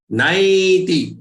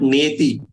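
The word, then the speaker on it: नैति: tyak, twa, deham, punarjanma, naiti. Remember, this is not neti, nai, I.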